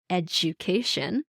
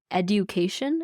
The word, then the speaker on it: education: So when you have a word like education that is spelled DU, a lot of my clients will say education instead of education. But this is a phenomenon that happens in spoken English where D and Y become J.